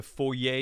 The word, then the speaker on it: foyer: fancy people call this a foyer it's a foyer you don't pronounce the art you got art it is